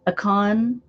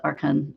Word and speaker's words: Archon: Okay, Akon. Every time I say that now, I think of A-CON. But they say his name is Archon.